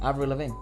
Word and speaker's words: Avril Lavigne: Avril Lavigne.